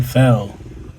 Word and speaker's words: Phel: But if you say like in those letters, you know, it sounds the same.